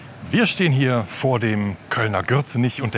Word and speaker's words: Gürzenich: you and me - there are certain words in Cologne that are written with a ‘G’ but pronounced with a ‘Y’. But who or what is ‘Gürzenich’?